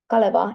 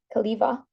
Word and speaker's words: Kaleva: Lexical features such as panukakku and maastohiihto and the phonological features like the anglicized pronunciation of Kaleva instead of Kaliva have become unregistered.